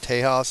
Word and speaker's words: Tejas: story here Texas or as Mexico putative is pronounced Tejas it was a state of of Mexico and